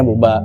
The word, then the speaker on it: Booba: Oh, Buba ya? Bukan Ya. Boba ya? Buba. Buba, kita bacanya Buba.